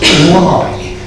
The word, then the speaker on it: Leigh: Spelt Leigh. If you look up the entry in Pearson's Buildings of England, he tells us it's pronounced Leigh, L-Y-E, but Leigh is the spelling.